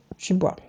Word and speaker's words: Du Bois: Par exemple, la Silent Protest de 1917, organisée notamment par Johnson et W.B. Du Bois, ou Du Bois, si tu le prononces à l'américaine, ainsi que le Hamilton Lodge Drag Ball.